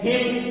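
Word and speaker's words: hymn: यहाँ मीनिंग आपकी लिख दी गई है, हिम यहाँ लिखे, इन साइलेंट रहेगा, इन हिम पढ़ेंगे, हमदिया, तराना, भजन, हम,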